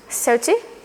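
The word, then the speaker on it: thirty: in 30 the auderina the stress is on the first 30 13 or 50 15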